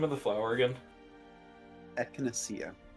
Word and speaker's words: echinacea: yeah, I think it's pronounced echinacea. Echinacea, is that it? I think so. I've only ever read it. How do you spell it? E China ECHINACEA.